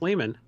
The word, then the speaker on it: Lehmann: hey everybody i'm pretty sure it's pronounced lehman i mean i'm